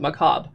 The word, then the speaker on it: macabre: how you you spell it macabre but you pronounce it macabre i was hoping there was something too because